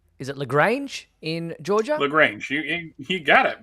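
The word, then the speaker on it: LaGrange: taking place in is it lrange in Georgia lrange you got it right right uh pronunciation first time there you go uh lrange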